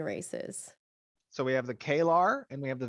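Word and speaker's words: Kaelar: with our human races so we have the klar and we have the value all right and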